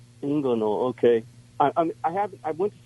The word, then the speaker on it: inguinal: is it a name I don't know how you pronounce it in Ingle yeah you're close inguinal inguinal okay I have I